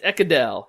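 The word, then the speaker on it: Ekedal: It's Ekedel.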